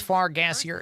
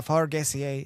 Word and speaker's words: Fargassier: So for those that come in the raid, my name is Fargassier. It is a fart joke. You can pronounce it uh Fargaseier if you would like to.